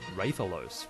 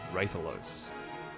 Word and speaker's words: Rathalos: few letters so yeah it would be ridiculous to say Rathalos if you're gonna say Wraith Ian but if you are